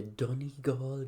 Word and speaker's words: Donegal: If you're trying to say the Donegal Guards, it's Dunny and then say Gaul like those, French Celts.